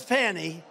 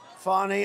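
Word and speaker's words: Fani: funny fny it's spelled Fanny it's spelled Fanny like your ass right Fanny but when she became da she decided to add a little French a little fancy fny fonny and you know fonny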